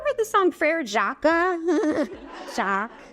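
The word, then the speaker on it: Jacques: to find a reason to talk about French pronunciations like have you ever heard the song FR Jaca Jack not jacz so so don't do it when you're it's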